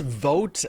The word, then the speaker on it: Voatz: It's called Voatz, V-O-A-T-Z is how they spell it.